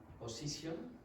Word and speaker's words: position: How many syllables does this word have? Position. Three. Position. Now, do you think the first one is very strong? No, it's very weak. So what's going to change here? Is it going to be pronounced po or pa?